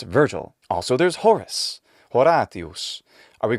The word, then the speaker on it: Virgil: use english phonetics but we already have an english-sized version of the name that's traditional in our language and in our literature and it's virgil also there's horus are